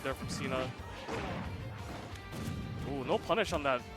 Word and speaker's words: CNA: is actually pronounced cena it's a it's a john cena joke apparently but you can pronounce its cna as well it's preference